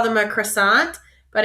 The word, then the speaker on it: croissant: we call them a croissant but in French it's quas Sal so that first part is qua and then that last part is salt like s a n t salt so Quant is a